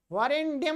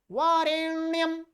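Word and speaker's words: वरेण्यम्: वरण्यम नहीं, बारेन्याम बारेन्याम। यह मान लीजिए, 99.9% लोग गलत हैं।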